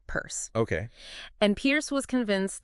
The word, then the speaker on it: Peirce: Pronounced like Peirce.